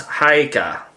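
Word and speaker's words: Haigha: His name is Hagar. He pronounced it so as to rhyme with mare.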